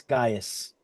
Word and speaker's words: Gaius: It's spelled Gaius. Gaius.